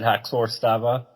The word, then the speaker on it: Haxör Stava: Is that how to pronounce it? That is how to pronounce it, Haxör Stava.